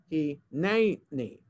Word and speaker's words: hineni: That vertical line tells you that's the syllable that's emphasized. So in other words, we don't pronounce the word hineni or hineni, because the vertical line is there. In the second syllable, it's hineni.